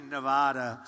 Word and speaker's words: Nevada: out here I said nobody says it the other way it has to be Nevada right and if you don't